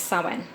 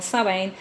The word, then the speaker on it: Samhain: night of the year samhain or pronounced sawin they believed that there